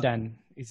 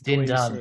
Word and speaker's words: Dindan: Dindan. It's Dindan. Dindan. Yeah, there's no E in the end.